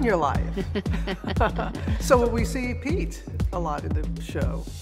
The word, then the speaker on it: Pete: his name remember yeah rhymes with feet yeah his name ryan's